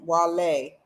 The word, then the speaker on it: Wale: He's like Wale, not Wally. I know he used to get mad as crap when people call him Wally. Because the way his name is spelled, it sounds like Wally, you know, but it's Wale with Downtown Hot Radio.